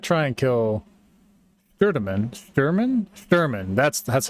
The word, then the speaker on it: Shturman: Sturman Sturman.